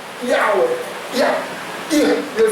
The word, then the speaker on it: Yahweh: And then you say where with a pen and end like where, like that. So Yahweh, that's how you would say it.